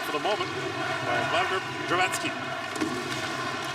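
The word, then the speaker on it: Dravecký: the moment by Vladimir Dravatsky. Kind of funny to see Slovak names been anglicized in North America. Dravecki, of course, would be the North American pronunciation.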